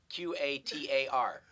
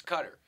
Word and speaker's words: Qatar: is how you pronounce q-a-t-a-r most people say cater or Qatar guitar it's cutter I have it on